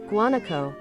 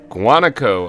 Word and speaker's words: guanaco: Guanaco. Guanaco.